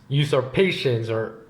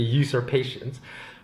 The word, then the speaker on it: usurpations: But when a long train of abuses and usurpations I always forget how to pronounce that word. I think it's usurp, so it should be usurpations.